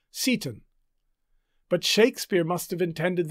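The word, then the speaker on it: Seyton: a follower named s-e-y-t-o-n the pronunciation guides tell us that the name is probably to be pronounced satan but shakespeare must have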